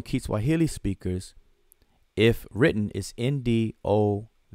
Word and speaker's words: Ndovu: The form among Kiswahili speakers, if written, is NDOVU. When spoken, it's Ndovu. Ndovu.